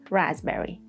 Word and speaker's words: raspberry: And then 4, there is no pattern for this one, like in receipt and raspberry.